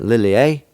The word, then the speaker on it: Lilia: are the dream catchers lilia that's how i remember how to say it lily a um especially a they